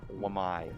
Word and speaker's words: Wamai: Vazdek's going to use it to go on Wami. I think I pronounced that right. Wamai.